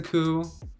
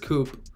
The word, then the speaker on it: coup: coup i know it's a coup i said coop i mean like i